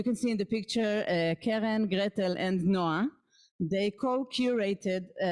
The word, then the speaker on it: Keren: And in the world, you have the name Keren. You have Keren, and this is Keren, it's a bit different.